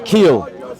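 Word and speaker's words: חיל: What I said is that its origin is from chil, right? Which you pronounce keel, which is a primitive root, properly to twist, right?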